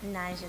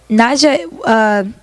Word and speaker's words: Naija: But the way she spelled it wasn't Arab. She was supposed to spell it Najah, but she spelled it Naija for pronunciation. Mm-hmm. But now I got a bunch of Nigerians asking me, am I Nigerian? Because I guess that's like a It sounds like Nigeria for Nigeria.